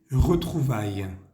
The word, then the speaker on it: retrouvailles: De retrouvailles. Retrouvailles. La primera, esa E suena como una E francesa.